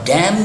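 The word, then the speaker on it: damn: परवाह नहीं करता और डैम जो है इसमें इन साइलेंट होता है हम जैन कहते हैं तो आई डोंट केयर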